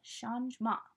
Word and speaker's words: changement: Shinae turns next is Sean's ma yeah so that means change right it kind of spelled like changement if that was a word so that's when we